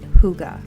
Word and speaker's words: hygge: book of hygge so different people pronounce it in different ways but i believe it's supposed to be hygge h-y-g-g-e so let's go